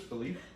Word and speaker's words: Philippe: uh thomas said felipe i want to say phillip but i don't think that you pronounce it as philip in french i think it's like felipe no not philippa what was i saying before philippe felipe philippe philippe this is philippe philippe uh he travels to